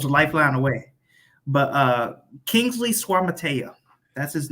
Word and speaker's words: Suamataia: But Kingsley Suamataia, that's his name.